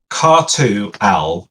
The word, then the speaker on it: Khartu-Al: Now help me, Jale, if I'm not pronouncing this correctly. Is the Qatar? Yeah, so Khartu-Al is the model we have now.